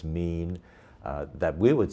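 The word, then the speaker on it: מין: AFTER THEIR KIND, IT'S THE HEBREW WORD WE PRONOUNCE "MÎN," THAT WE WOULD SAY IS MORE AT THE FAMILY LEVEL OF CLASSIFICATION.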